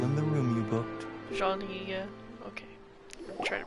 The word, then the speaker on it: Jean: the room you booked jean okay try to pronounce it correctly the e is uh similar to the italian one surely there we go